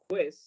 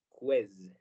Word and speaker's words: quiz: Remember that the pronunciation of letter Z in English is Z, not S. So it doesn't sound like quiz, but it sounds like quiz.